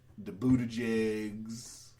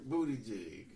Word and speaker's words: Buttigieg: If you say it normal, you have to actually pronounce it to make sure it don't sound like jig.